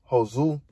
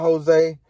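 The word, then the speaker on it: Josué: But yet, nonetheless, it was an unanimous decision win for Josu, man. His name not Jose. I'm gonna show y'all his name, but Josu or some. It's spelled Josue, Vargas.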